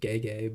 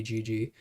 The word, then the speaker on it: Gege: If you see, I think you pronounce it Gege, but it might be Gigi.